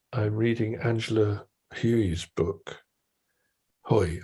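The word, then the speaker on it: Hui: And I'm reading Angela Huey's book, Hoy, I think it's pronounced, who is a fascinating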